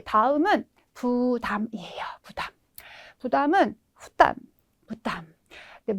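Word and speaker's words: 負担: 아래 하자에 이 개자 발음 의외로 많다라는 거 기억을 해두시면 되겠습니다. 네, 다음은 부담이에요. 부담. 부담은 후담, 부담.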